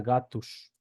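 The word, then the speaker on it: gatos: Y dos, cuando va al final, al final de palabra, donde se pronuncia como sh, ¿sí? Por ejemplo, tenemos la palabra gatus, ¿sí? Queda gatus, gatus, ¿sí?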